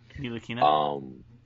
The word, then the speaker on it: Ntilikina: In that draft, where we drafted Frank the Tank, I can't pronounce his last name. He needs to go. Ntilikina?